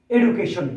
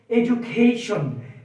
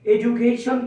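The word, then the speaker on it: education: ডি আর থাকবে না ডি এর উচ্চারণ তখন বর্গীয় জ এর মত হয়ে যাবে ডি হয়ে যাবে বর্গীয়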